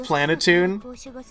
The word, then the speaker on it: Planeptune: Planetune. So it's like, it's spelled Planeptune, but it's pronounced Planetune.